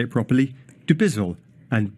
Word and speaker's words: Dubizzle: Thoughts there of Fibha Ahmed, Director of Sales, deep breath so I say it properly, Dubizzle and Bayut.